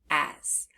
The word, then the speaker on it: as: If we look at that second letter, the S, we hear the Z sound, but it's spelled with S.